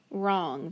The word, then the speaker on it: wrong: else do i have i've got that w r my ghost digraph because that w is silent and then over here